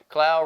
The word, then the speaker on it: Clow: No, Clow rhymes with pow was tremendous.